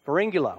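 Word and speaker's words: Pharyngula: and the author of The highly popular blog Fula I say that right you said it right Fula which won the co fa Award for best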